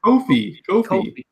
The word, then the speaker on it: Kofi: It's coffee technically, but Chris always says coffee. So I know. I was thinking coffee cake. Kofi? Yeah, it's Kofi.